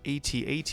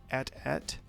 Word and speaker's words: AT-AT: The all-terrain armored transport, better known as AT-AT, and yes, that's how it's pronounced, I don't care if Mark Hamill pronounces it AT-AT.